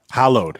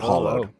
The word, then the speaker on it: hallowed: heard or was that hallowed i think it's hallowed bones not hollow we're hot hallowed bones